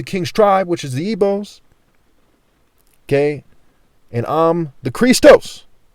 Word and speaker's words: Igbo: Obi means King Heart Hut Essence Center Temple Core in Igbo, and the word Igbo, I-B-O, when it's spelled that way, it's also spelled I-G-B-O, where the G is silent.